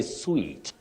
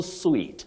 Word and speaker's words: suite: then your second word you say sweet presidential suite not suit then James mushir you